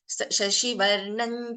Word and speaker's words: शशिवर्णं: Shashivarnam Chaturbhujam. So let us say I follow the Varga Panchama and I have the anuswara and the Vargiya Vyanjana here. I'll be pronouncing this as Shashivarnam Chaturbhujam.